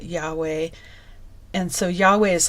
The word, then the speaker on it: Yahweh: But they have put the letters to make to us so that we can pronounce it Yahweh.